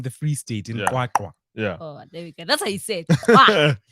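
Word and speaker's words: QwaQwa: Kwakwa. Yeah. Oh, there we go. That's how you say it. Kwah. You hear like, ah.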